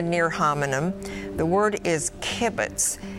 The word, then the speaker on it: kibbutz: on a communal basis kibbutz kibbutz sorry it's kibbutz are there any alternate pronunciations kibbutz can you use it in a